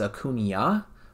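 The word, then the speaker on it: Acuña: But my last name is Acuna. Technically, the Spanish pronunciation is Acuna with a tilde over the N.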